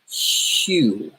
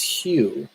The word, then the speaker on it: HU: the holy sound is huge hu you think would be pronounced - but no it's it's Hugh and and they they